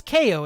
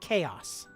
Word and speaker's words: Koo: to call you Koo okay so it's Koo and not chaos or not cow it's